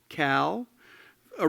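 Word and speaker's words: CALA: attend the column eye Columbia alumni Arts League I'm told that's pronounced Cal a reception in the lobby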